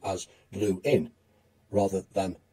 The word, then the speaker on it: Lewin: And a few years after moving to America, Lewin began asking people to pronounce his name as Blue-in rather than Levine, because the misspelling, it was said, of his name by Americans had led to many missed phone calls.